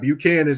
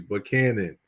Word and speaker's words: Buchanan: I'm gonna tell people it's not Buchanan Street it's Buchanan from Nashville you do not say but can't uh you did not say Buchanan you say but Canon it's how you say